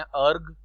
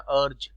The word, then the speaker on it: erg: Work का CGS unit होता है ये, इसको कई लोग प्रोनाउंस करते हैं अर्ग, कई लोग प्रोनाउंस करते हैं अर्ज।